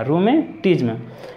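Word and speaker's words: rheumatism: गठिया रूमेटिज्म, रूमेटिज्म, ध्यान रखिएगा थोड़ा सा इसके उच्चारण में, क्योंकि यहाँ पे एच भी लिखा है लेकिन एच साइलेंट है हमारा, रूमेटिज्म।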